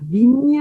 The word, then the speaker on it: Vignes: Alors, nous, on dit les vignes en français. On ne dit pas le S.